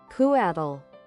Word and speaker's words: Quetzal: this creature name, but I think it is pronounced Cotal? Cautal? Catel? Quetzal.